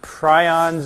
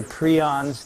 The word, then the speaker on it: prions: about viroids satellites and prions or pre ons depending on how you want to pronounce it these don't fit into